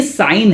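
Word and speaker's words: sine: सीन। भाई सीन नहीं है बेटा, अगर ऐसा बोला क्लास के अंदर तो तेरा सीन बनने का तैयारी कर रहा है तू। तो ये साइन है। क्या है? साइन।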